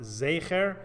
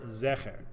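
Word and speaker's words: זכר: post kim as to whether the word zecher or zeker in the last verse of this parasha is pronounced zaiker or zecher so it's proper for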